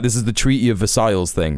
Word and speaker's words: Versailles: Um, you don't even pronounce uh pronounce the L's in Versailles.